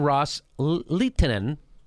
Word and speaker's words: Ros-Lehtinen: Sunnis Arab states had made to Representative Ileana ros-lehtinen that's how you say her name quote with